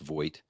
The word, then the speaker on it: Voigt: Chris Voigt rhymes with Hoyt, but it's actually pronounced Voigt.